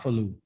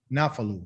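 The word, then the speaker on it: נפלו: the verb here yes which is the noon which is nah right and then we got the ph because it doesn't have a dot in it and then i got a l and then i got an o okay which is this sound here so enough well not falu nafalu not not flu not falu nah okay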